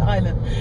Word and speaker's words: Island: Хотя это читается Island, но написано-то Island.